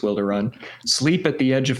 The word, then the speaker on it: Wilderun: It's either Wilder Run or Wild Run, but I think it's Wilder Run.